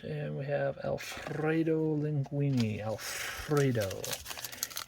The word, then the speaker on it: Alfredo: Alfredo. You gotta roll your R's when you see Alfredo.